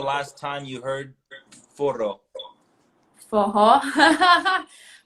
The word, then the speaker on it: Forró: Forró. Forró, this is one of the words that you pronounce it with like an H.